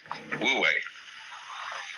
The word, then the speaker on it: Wu Wei: So the transitional word, which shows the way from to realize De in one's life, this is pronounced, this one is Wu, and this one is Wei, Wu Wei.